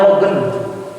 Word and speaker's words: Logan: Nah, dulu itu ketika Indian Archipelago itu Ada seorang tokoh orang Irlandia yang tinggal di Singapura, namanya Logan. Bukan Lohan, laut katanya.